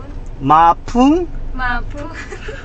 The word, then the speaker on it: Mapung: Yeah, you pronounce it properly. Mapung.